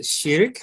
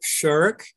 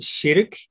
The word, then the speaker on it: Širk: The pronunciation is Sirk, not Shirk, as the English word shirk for, you know, to avoid something. So it is Sirk.